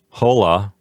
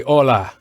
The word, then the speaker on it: hola: to say is that the H in hola is silent so we don't want anyone out there to say hola right Antonio yeah that's right just say hola remember the H in